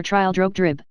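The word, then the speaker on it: Trildrogdrib: It contained a warrant for conducting me and my retinue to Traldragdub, or Trial Drogdrib, for it is pronounced both ways as near as I can remember, by a party of 10 horse.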